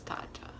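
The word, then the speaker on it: Tatcha: I don't know how I said it earlier, but it's Tacha. Tacha. Ch. CH says ch. Yeah, Tacha. Yeah, or Tacha.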